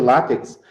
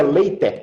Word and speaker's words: LaTeX: em látex ah ah eu chamo de látex mas como chama de látex a pronúncia ou mais adequada seria later Oi tá playback Eu